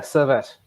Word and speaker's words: Servette: So the next one is Roma versus Servette. Did I pronounce it nicely? Yeah, Servette. Yeah, Servette.